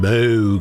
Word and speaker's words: Moog: that're like oh it's it's actually a Moog people called it moo who cares right someone